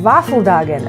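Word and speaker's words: Våffeldagen: in sweden ah this waffle day is known as waffle dagen waffle dagen which sounds a lot like a var fujagen of varfu dagen which means our lady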